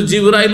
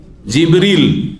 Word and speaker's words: জিবরীল: কে জিব্রাইল আলাইহিস সালাম জিব্রাইলের নামের দুটো উচ্চারণ রয়েছে জানেন না জানেন না আমাদের দেশে শুধু জিব্রাইল উচ্চারণটি প্রসিদ্ধ তাই না কিন্তু হাদিস কোরআনে কি রয়েছে জিবরীল কি রয়েছে জিবরীলা মিকালা